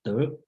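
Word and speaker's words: 德: If you recognize Chinese word called De, okay, the pronunciation is De.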